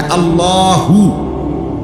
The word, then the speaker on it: আল্লাহ: শেষে আল্লাহ, শেষে একটা গোল হা আছে, ছোট হা। আল্লাহ মানে আল্লাহু, তো হুটারে শ্বাস ফেলাইলে হলো আল্লাহ।